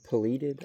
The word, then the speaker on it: pileated: That sounds like, I think it's pileated woodpecker, or pileated.